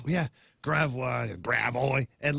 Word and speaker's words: Gravois: Like Gravois. Yeah. Gravois, Gravois.